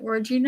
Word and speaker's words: Wardruna: Now, Wardruna, am I saying it right? Wardruna?